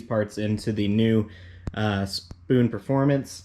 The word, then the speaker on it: Spohn: new uh spoon performance i'm just going to call it spoon for now on it's spelt like this s-p-o-h-n so i'm going to call it spoon like i mean it could be pronounced spawn doesn't really matter to me uh yeah we're gonna